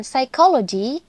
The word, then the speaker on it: psychology: akan mengupasnya dengan sederhana contoh paling umum dari silent Letters adalah penggunaan huruf k p dan W huruf-huruf ini ada tapi kita tidak mengucapkannya contohnya pada kata Knife yang berarti pisah restle yang berarti beradu dan psychology yang berarti psikologi selain tiga